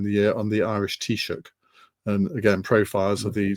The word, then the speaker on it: Taoiseach: It's spelled T-size, but it's pronounced Taoiseach.